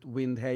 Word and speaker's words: Windheim: not very indepth description of everything that's on Windhame. And yes, that's how you pronounce it, Windhame. Windh. But I'm Look, I'm no purist. You can, anyone can pronounce Windhame whichever way they want.